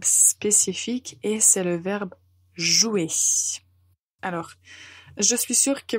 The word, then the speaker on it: jouer: vous l'utilisez au présent il faut juste faire attention à ne pas prononcer certaines lettres qu'il ne faut pas dire qu'il ne faut pas prononcer je vous dis la prononciation du verbe jouer au présent et n'hésitez